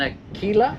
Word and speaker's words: Aquila: It's an Aquila. Yeah. Is that correctly pronounced?